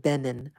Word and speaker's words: Benin: I pronounce it Benin, West African nation.